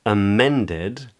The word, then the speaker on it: amended: In amended, men is the stressed syllable, and the A at the beginning and the D-E-D at the end are unstressed.